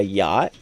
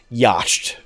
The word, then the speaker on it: yacht: that one chance card that says buy a yacht and as a kid even after I was told it's pronounced yacht. I said that's stupid. I'm going to pronounce it yashed.